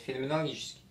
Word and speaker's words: феноменологический: четыре реальная даже реальных феноменальная феноменологически правильно говорить феноменологический Ну наверное на сегодня